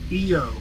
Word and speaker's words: Ion: In this game, it's it's spelled ION. Okay. Wasn't there was a rival named Eio. I TXR2 one and two it was EO.